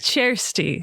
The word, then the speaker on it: Kjersti: It's Kjersti. Chair. Yes. Not chair. Chair.